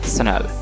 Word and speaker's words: Chanel: तो हम लोग इसे क्या पढ़ते हैं, सर चैनल पढ़ देते हैं, ठीक है, लेकिन ये गलत प्रोनाउंसिएशन है, चैनल इसे नहीं पढ़ना है। और इसका करेक्ट प्रोनाउंसिएशन क्या होगा? शनल, शनल, शनल, नॉट चैनल, शनल।